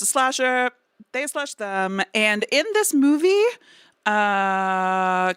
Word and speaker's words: They/Them: I didn't know that you were supposed to pronounce the slash until how are you supposed to yeah pronounced they slash them because it's a slasher